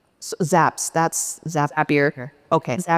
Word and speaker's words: Zapier: Zaps that's zapier. Okay. Zapier makes you happier.